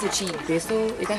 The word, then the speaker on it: Bissell: It's a cheap Bissell. Is that how you say it? Yeah. Bissell.